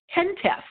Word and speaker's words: HENTF: of the heritage emergency national task force it's pronounced tent F so now you know how to say it